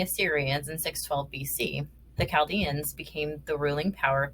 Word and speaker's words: Chaldeans: video so I apologize the correct way to say this group of people's names is the Chaldeans the Chaldeans were semi-nomadic